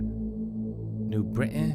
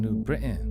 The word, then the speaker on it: New Britain: in new britain connecticut that's how they say it there new britain i'm from new britain it's one way of saying it and um i was